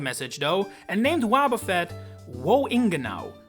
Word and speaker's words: Woingenau: German did get the message though, and named Wobbuffet Wohingenau, which said out loud sounds exactly the same as Wohingenau, which means where to exactly.